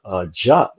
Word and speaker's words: Diop: reading Sheikh Anta Diop, or Jop, however you want to pronounce it, because he, you know, it's French, or he uses the French language. So, but I use the English version, which is Diop. So I don't like to mispronounce somebody's name. Okay, because we get caught up in little things like that, you know. Oh, it's joke, not Diop.